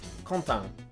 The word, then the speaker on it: Quentin: They have several nasal vowels, like in the common name Quentin. I struggled with that one. This guy kept saying, my name's Quentin.